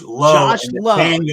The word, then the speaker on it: Lowe: this one's Brandon La that's right it's Lao and it's Josh Lowel low the brothers of the Lowe's Brandon's the LA and it's confusing because